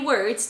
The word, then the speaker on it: word: And it's the same pronunciation as word, word. Work, word. To work, one word. Okay, so it's an sound, like a bird, bird.